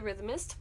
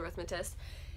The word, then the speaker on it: Rhythmatist: I got one of my favorite books ever, which is The Rhythmist by Brandon Sanderson. The Rhythmatist. I always say it wrong, it's The Rhythmatist.